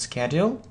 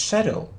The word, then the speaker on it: schedule: it's schedle and uh some people say that it's Shadle so which is correct which answer is correct so it can be Shadle or schedle so it's a matter it's you know it's it's again a matter of British or American pronunciation scle or Shadow good